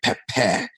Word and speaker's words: Peppeh: when we talk, say Peppeh, it's hot. It's like that West African pronunciation, really Ghana and Nigerian pronunciation Yeah. of pepper. So Peppeh.